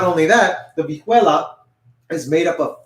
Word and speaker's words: vihuela: This is known as the vihuela. It's spelled V-I-H-U-E-L-A.